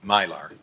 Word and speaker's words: Mylar: I always say the name wrong, Mylar.